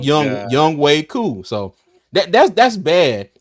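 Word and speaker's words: Younghoe Koo: but it's crazy because it's pronounced young young Way co so that that's that's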